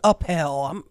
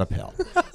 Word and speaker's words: Appel: Give me a I think it's Appel. We'll have to ask Conrad Appel. So, rhymes with lapel minus the L.